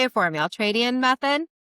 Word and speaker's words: Ultradian: the Altradian method. So, well, the Altradian method I lay out in the book and